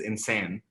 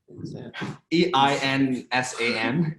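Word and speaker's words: إنسان: EINSAN. Insane. Oh, that's just the pronunciation. Yeah. Oh, okay. Yeah. Like, is that an American? No, that's how you say it in Arabic.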